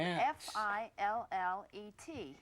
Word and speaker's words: fillet: The word that we use in describing fish is spelled f i l l e t and it should be pronounced fillet.